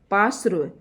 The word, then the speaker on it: पार्श्व: पार्श्व, पार्श्व है ये जो जिस अक्षर के ऊपर मात्रा लगी हुई होती है उसको उससे पहले पढ़ते हैं, यानी कि रे जो है वह से पहले इसका उच्चारण होगा।